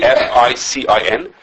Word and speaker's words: ficin: It's called, I don't know how to pronounce it. FICIN.